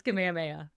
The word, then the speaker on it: Kamehameha: Also, as an avid Dragon Ball fan, I always pronounce that Kamehameha, but I'm now thinking that perhaps what you said sounded more authentic No. Polynesian. No, so, it's Kamehameha. I'm positive on that one. It's Kamehameha.